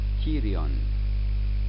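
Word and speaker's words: pterion: this area is called tyrion you simply don't pronounce the p this is a very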